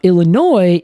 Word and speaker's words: Illinois: French it is yeah it's because it is named by the French initially yeah and I can